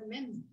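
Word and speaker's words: מֵם: T'appelles ça même? Même. M-E-M. Ça se prononce même. M, on dit M en français et en hébreu, on dit même.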